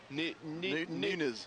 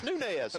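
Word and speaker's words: Nunez: of nunz you know you've got to have some Emanuel County training to know how to pronounce that because I've seen people that see a sign and they Nunes it's nunz Nunes right there's our local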